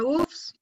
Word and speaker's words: œufs: Au pluriel, la lettre F ne se prononce pas.